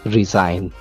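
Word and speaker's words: resign: इसी तरह से इसकी एक और एग्जांपल भी हम ले लेते हैं, रिजाइन, उसमें भी जी जो है वो साइलेंट है, ठीक है।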